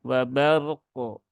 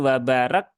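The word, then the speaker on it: وبرق: yang fathah bertemu dengan ro yang sukun maka rnya dibaca tebal Jadi bukan wabar tapi wabar Ar wabar wabar tunaikan tawasudnya wabar wabar set setelah itu qf yang sukun juga dibaca yaitu aqqo ya wabarqu wabarqu Nah seperti itu bukan wabark bukan wabar kaofnya hilang Ya kadang juga ada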